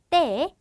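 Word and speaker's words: te: 그리고 때는 쌍디귿의 발음을 가지게 됩니다. 그래서 엘에, 에세, 때 이렇게 가게 되고요.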